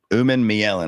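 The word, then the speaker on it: Umanmielen: Uman Mielen.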